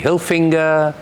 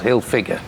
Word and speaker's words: Hilfiger: Everybody calls it Tommy Hilfinger and some somebody say something else and this. Nobody can pronounce Hilfiger."